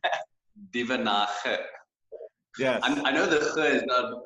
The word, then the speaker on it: Duvenhage: Duvenhage. Yes. I know the it's not very famous around all English languages, so it's an Afrikaans thing.